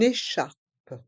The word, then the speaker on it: écharpe: Dans le mot écharpe, on fait la liaison avec le N de une et le E accent aigu de écharpe. Le E de une est muet. Une écharpe.